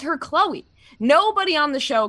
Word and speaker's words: Khloé: has ever called her chloe i don't think she ever has i think that she wanted to throw that accent on the e make it look fancy and then just called her chloe forever because i feel